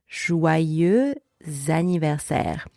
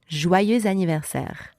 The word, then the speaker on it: joyeux anniversaire: Joyeux anniversaire. Now, faster, normal speed. Joyeux anniversaire. Joyeux anniversaire.